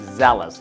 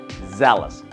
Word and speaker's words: zealous: not gonna pronounce it zealous right it's zealous just like how you pronounce jealous you say jealous so here you say zealous now zealous is right